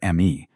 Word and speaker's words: me: All these assignments were governed by the ME, a word pronounced like the English word may.